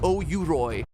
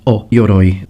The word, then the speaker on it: O-Yoroi: Samurai had O-Yuroi. O-Yoroi. The O is pronounced O-Yoroi, not Yuroi.